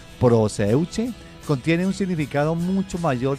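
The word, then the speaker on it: προσευχή: Bueno, esa palabra se escribe con S, así como suena, proseuche.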